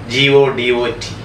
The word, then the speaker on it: Godot: Today we are doing a play, a tragic comedy, Waiting for Godot, Godot, G-O-D-O-T, it is pronounced as Godot, Waiting for Godot.